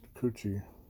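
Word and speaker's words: くち: its own it means a mouth and it's pronounced coochie and you write it like this in heana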